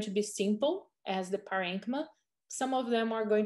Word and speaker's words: parenchyma: Some people pronounce it as parenchyma. I believe it's both acceptable. I learned parenchyma.